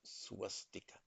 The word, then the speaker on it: swastika: The correct pronunciation in Sanskrit is swastika.